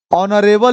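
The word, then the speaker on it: honourable: ऑनरेबल लिख ले तो यहीं पर क्या हो जाएगा, यहाँ पर एच साइलेंट हो रहा है, ठीक है।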